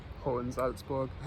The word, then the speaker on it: Hohensalzburg: Is that how you pronounce it? Near enough. Go on. Hohensalzburg.